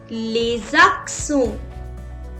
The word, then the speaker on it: les accents: so to the accents we say lesakson lays the sound is there why i'm making a